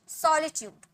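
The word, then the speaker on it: solitude: means legacy अकेलापन सॉलिट्यूड सॉलिट्यूड स श नहीं स सॉलिट्यूड ओके आनंदमय ब्लीज फुल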